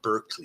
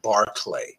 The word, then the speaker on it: Berkeley: do early modern philosophy it's Bishop barlay it's not Berkeley it's barklay so if you've actually taken a course in early modern philosophy you'll know it's barklay not Berkeley and if your Prof